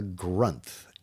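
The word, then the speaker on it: Granth: One of the uh Hindu texts is called the grunt. Gru N, the grunt, which rhymes with month.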